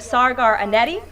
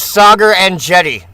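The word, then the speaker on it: Saagar Enjeti: And today, we have Sagar Anetti, who is the host of Breaking Points, a popular political YouTube news and podcast show. She mispronounced it. 1 billion. His name is Sagar Anetti.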